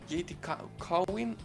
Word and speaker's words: JTQWN: How do you say that? JT Cowen. I'm incapable of saying how you say that name. He pronounces it. He pronounced it. Jitaquin.